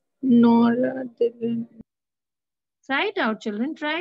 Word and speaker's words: noradrenaline: If you see, it's exactly adrenaline. But then, what is the next word? Just nor is added to it.